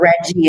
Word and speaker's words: Reggie: advertisers the Reiki award I hope I'm pronouncing this right you know uh is it Ricky Award right Rebecca Mr Reggie Awards okay my apologies guys so Reggie award and not only that